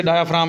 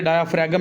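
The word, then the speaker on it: diaphragm: डायाफ्राम बताया, ये नीचे डायाफ्राम लिख भी दिया, ये डायाफ्रैगम नहीं पढ़ना, इसमें जी साइलेंट है।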